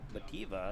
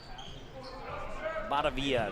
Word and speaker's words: Batavia: It'll be Owen Van Bativa, if I'm saying. I can't say that one. Batavia, there we go.